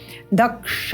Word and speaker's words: दक्ष: भगम मित्र मदितिन दक्ष, पुनः स्मरण करेंगे दक्ष, क्ष का उच्चारण।